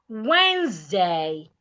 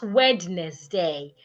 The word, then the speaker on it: Wednesday: The next word is Wednesday, not witness day. Wednesday. The D is silent. The E is silent. The S changes to a zed.